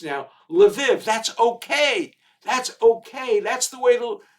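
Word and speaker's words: Lviv: growing up some of my family came from levov which was the way it was pronounced in the olden days a city right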